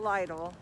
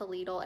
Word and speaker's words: Lidl: you did on lidl lidl it's pronounced legal not lytle it rhymes with needle and that's on their